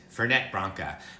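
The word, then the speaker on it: Fernet-Branca: ingredient which i call ferne branca and i know my friend brad parsons is out there and his ears hurt because it's fernet fernette branca but in french you don't pronounce the final t and i'm used to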